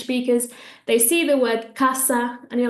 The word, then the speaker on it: casa: But no, when an S comes between two vowels, it's going to make a Z sound. So I want to hear you say casa, casa.